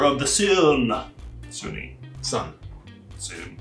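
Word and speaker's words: Sunne: Sun. It's just spelled like Suni, but it is Sun.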